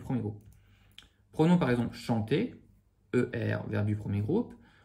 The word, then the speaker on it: chante: Ici, on a par exemple chante, je chante. Le E ne se dit pas, mais s'il n'y avait pas de E, on dirait chant.